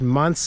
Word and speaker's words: Mance: I have 2 great-grandparents that were from Croatia, and my last name, Mance, is actually Croatian, and it's pronounced Mance.